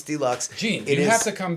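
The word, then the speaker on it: DLUX: a new record DL d-l-u-x Deluxe pronounce Deluxe Gene you have to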